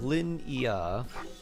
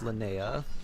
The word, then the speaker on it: Linnea: So it's like Lin-Ia, or pronounced Linnea.